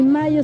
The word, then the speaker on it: Mallo: Y Mayo se escribe como gallo, L-L-O, Laboratorios Mayo.